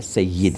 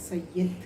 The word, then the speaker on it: سید: نے استعمال کیا سید، اصل میں اس کا صحیح تلفظ ہمارے ہاں عموماً غلط العام ہے، جی اور ہم بھی یہی کہتے ہیں، آپ بھی یہی کہتی ہیں، سب کہتے ہیں۔ جی صحیح تلفظ اس کا زیر سے ہے، سید ہے سید، جی، یہ میں نیچے زیر ہے، اچھا پہلی چیز۔ دوسری